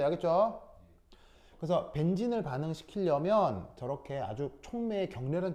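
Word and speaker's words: benzene: 벤진이 원래 발음이고 벤젠 이거는 일본 발음입니다. 아시겠죠? 알겠죠? 자, 어쨌건 그래서 얘 이름은 벤진이에요. 벤진. 그 벤진에 뭘 할 거냐면 Br2 처리를 할 건데 CH2Cl2 속에서 하는 거예요.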